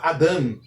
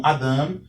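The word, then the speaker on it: אָדָם: Então, entendemos que a sílaba tônica é a última sílaba. A sílaba que antecede a sílaba tônica é chamada de pretônica. Então, Adam possui duas sílabas, uma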